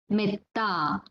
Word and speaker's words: metta: So you can observe the difference here. How we pronounced this deva? It was deva. Deva, where A was long, and here it is khetta. Metta. Khetta. Metta. So the sound of A is shortened, it is contracted.